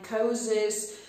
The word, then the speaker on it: psychosis: P przed S-ką milknie bardzo często w wyrazach typu psychic, psychiatrist, psychiatrist, psychologist, psychosis.